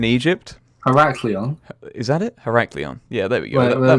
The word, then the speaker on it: Heraklion: So the city I found is called, I can't pronounce that. That's cool, eh? Heraklion in Egypt. Heraklion. Is that it? Heraklion.